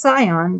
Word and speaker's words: Zion: Such was pre-designed according to Illuminati's manual, the protocols of the learned elders of Zion. It's really supposed to be pronounced Sion, but here it's spelled with a Z.